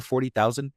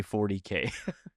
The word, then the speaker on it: Warhammer 40,000: And is it Warhammer 40,000? Is that just the full name, or is there some trick? I knew this was going to happen. No, you don't say it like that. You say 40K.